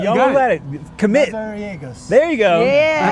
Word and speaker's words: Mazariegos: And I've got Mazariegos. Yeah, you almost had it. You almost had it. Commit. Mazariegos.